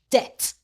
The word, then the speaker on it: debt: A just BT says T. The B is silent. D at debt.